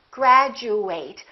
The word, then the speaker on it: graduate: of word it is if it's a verb we fully pronounced eight and it kind of sounds like the number eight graduate I would like to